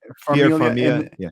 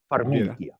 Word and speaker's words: Farmiga: Farmiga. And is it Patrick? Is he still in guys, it? come on, guys. It's Vera Farmiga.